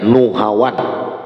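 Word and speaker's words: نهاوند: Nah, bacanya Nuhawan. Kalau kita lagu mengajarin Hawan, ini Nuhawan. Wa mansya'uhu, lalu besarnya sidin,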